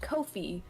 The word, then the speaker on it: Ko-fi: the Twitter account said it's pronounced Kofi like no fee because they don't have fees on their website okay it's a coffee